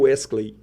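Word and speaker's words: Wesclay: Do meu irmão é porque do meu irmão se escreve de um jeito e fala do outro. O nome do meu irmão é Wesley.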